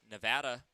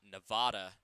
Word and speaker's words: Nevada: he pretty much said it is pronounced nevada as in apple and not nevada and if you go